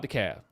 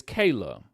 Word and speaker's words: Kala: Let's just talk about Kala. Is Kala? Kayla? It's It's Kayla.